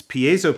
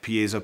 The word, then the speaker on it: piezo: options for Piezo pickups Piezo pickups or Piezo pickups if you say it wrong but that's what we're